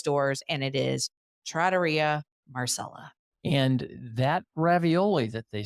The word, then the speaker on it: Trattoria Marcella: It is not Trattoria Marcella, as I would pronounce it if you're pronouncing it in an Italian way. It is Trattoria Marcella.